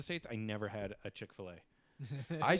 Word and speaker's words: Chick-fil-A: It's Chick-fil-A. Chick-fil-A. That's how it's pronounced.